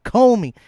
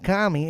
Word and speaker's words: Comey: And it's Comey. Comey. Uh, the only reason why I'm saying kami is because I'm Hispanic and uh I try to pronounce names uh in Spanish instead of uh English.